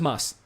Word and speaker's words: Mads: here we go um how do you pronounce the mads in mads Nicholson yeah it's pronounced Moss okay well that that isn't my fault because however it puts a D in the name it isn't meant to be pronounced however he is used